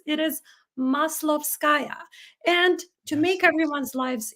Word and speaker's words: Maslovskaya: for your advice my name is hard to pronounce it is maslovskaya and to make everyone's lives easier I was